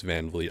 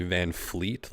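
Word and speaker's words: Van Vleet: how you can't pronounce Van vet I mean you hear some people say van Fleet like there's an F there but uh yeah kind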